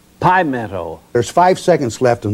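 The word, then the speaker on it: Pimento: old and of course i pronounced it just the same way as you would a meadow and all during that tournament i called apple meadow and when i got back to the studio the telephones were breaking off the wall i'd pronounced it wrong it was pi meadow there's five seconds left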